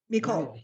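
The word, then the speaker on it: מכל: Mikol. Hey, regular K, not the plus that you never do anything. Mikol. Mikol, it's a real KK, yeah.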